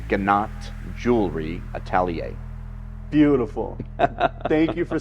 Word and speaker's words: Gnat Jewelry Atelier: So the correct pronunciation of our business name is Gnat Jewelry Atelier.